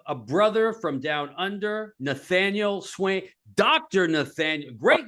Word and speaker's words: Nathaniel: It's Oh, Nathaniel.